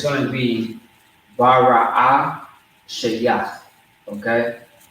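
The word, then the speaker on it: בראשית: It's going to be Bara'ah Shayach. Okay? Bara'ah Shayach. All right? Which means Genesis. So, just to spell it out for you, it's going to be BARAASHAYATH. Okay? All right? So BARAASHAYATH. Bara'ashia.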